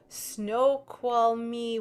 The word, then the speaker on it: Snoqualmie: And there's a really very long name where that is, Snoqualmie, Washington.